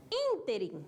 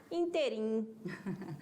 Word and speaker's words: ínterim: viu vamos lá o segundo exemplo ínterim sílaba forte é ruim mas o erro prosódico como é pronunciar inteirinho como mais forte Ok então pensa Olá